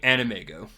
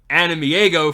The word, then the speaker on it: AnimEigo: today we are talking animego I have been saying animeo for the longest time until I found out I've been saying it wrong it is what it